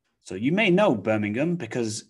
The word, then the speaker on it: Birmingham: okay birmingham birmingham so you might want to say birmingham but we don't really say ham it reduces down to um um so birmingham birmingham so you may know birmingham because it's a big